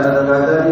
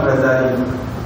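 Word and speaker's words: الغزالي: Muhammad bin Ahmad al-ghazali kalimat al-ghazali boleh diucapkan dengan meringankan huruf Zain dengan mentasdhkan K al-ghazali tas al-ghazalileh kalimat yang pertama dibaca Ran huruf Zai tanp tasdid al-ghazali adalah kalimat nisbat pada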